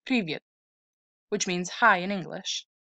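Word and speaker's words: Привет: for example this strange looking word here is pronounced privet which means hi in english this will make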